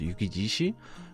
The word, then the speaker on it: Yukijishi: This is actually coming off of Shishi, but because it's a compound word, it's just pronounced Yukijishi, which means snow lion, aptly named.